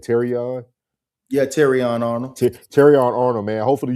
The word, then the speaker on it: Terrion: Yeah, Terrion Arnold.